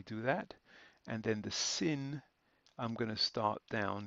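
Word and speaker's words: שׂ: do this is because if we just use a regular s then there could be some confusion once again with the S which is also a regular s and because of that we have to make the sin individual and and uh special if you like and we do that by adding a small diacritic Mark above it like that so we've got two sounds there shin and sin none of these have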